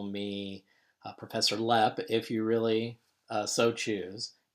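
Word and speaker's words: Lapp: is and my last name is spelled ello a PP but it's pronounced lap and all of my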